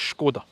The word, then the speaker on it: Škoda: and somebody pointed out when a Scotsman says the word schod it sounds like Sean connory trying to pronounce the scod but I'm told it's schod there you go uh hatchback